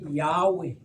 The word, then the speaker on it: Yahweh: Xa libhalwa eli gama latolikwa okanye la pronouncwa as Yahweh.